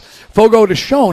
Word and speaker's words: Fogo de Chão: Fogo de Chão is, I believe, the correct pronunciation.